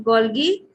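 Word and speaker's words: Golgi: गोल्गी पढ़ना चाहिए वैसे तो, करेक्ट प्रोनाउंसिएशन गोल्गी ऑपरेटस पाया जाएगा।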